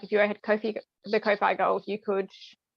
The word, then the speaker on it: Ko-fi: kofi or kofi uh it's kofi because it rhymes with sophie from what i've been